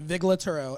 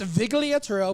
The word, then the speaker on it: Vigliaturo: the the Italian hand when I was younger I pronounced it viuro and my aunt said do not ever say that again it's Vigo put the accents where they belong well what what's your